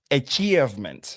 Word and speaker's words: achievement: Donc ici le le I e ne se prononce pas euh achievement right mais c'est achievement et puis on a un choix le le le a qui ne sera pas littéralement a mais c'est e achievement. Alors quelles sont les difficultés